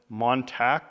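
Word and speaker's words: Montague: but I believe uh someone was correcting me and they said actually us Texans call it montac County or something anyway it doesn't sound anything like it's spelled but anyway I was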